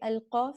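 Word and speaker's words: القاف: Okay, Al-Qaf is a heavy letter, and we need to pronounce it heavily. Okay, it is articulated where the deepest part of the back tongue touches the upper soft palate.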